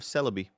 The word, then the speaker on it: Celebi: Found out how to pronounce that today. Nice. It's the Japanese version of Celebi.